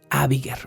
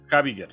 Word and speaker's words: Habiger: este momento con el apellido de Abiger o Abiger, no sé cómo se pronuncia, pero creo que es Abiger. Es Habiger.